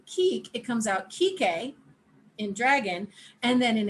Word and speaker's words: Kike: His name is "kee kay." He's on the West Coast. Chris: Oh, man. Tori: His name is "kee kay." And it's spelled K I K E. It's not the slur.